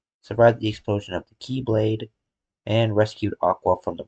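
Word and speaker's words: χ-blade: IT'S JUST PRONOUNCED LIKE keyblade even though it's just one keyblade.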